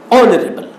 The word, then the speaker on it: honorable: So H should be not pronounced.